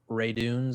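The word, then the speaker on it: Radunz: boom they replaced him dylan ray dunes i think is how it's pronounced uh and so you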